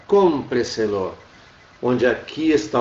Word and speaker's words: cómpreselo: Olha aqui, ó, onde é que está a nossa sílaba tônica, cómpreselo.